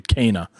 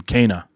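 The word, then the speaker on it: Kena: uh i finished cana bridge's spirits i've been mispronouncing it yeah like the last two shows it's actually cana like abel and for people who are familiar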